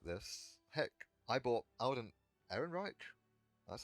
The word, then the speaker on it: Alden Ehrenreich: Heck, I bought Alden Ehrenreich, that's how you say it, as young Han Solo immediately.